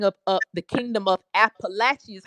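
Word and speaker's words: Apalachee: say the king of of the kingdom of appalachi is how we pronounce it but it was the kingom of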